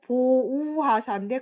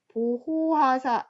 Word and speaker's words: 보우하사: 글자에서 엄청 많이 틀립니다 그리고 보우하사인데 갑자기 보호하사 이렇게 해서 또 틀리는 친구들이 있습니다 그 다음에 길이 보전하세 이것도 뭐 보존하세 발음 상의 문제도 있겠지만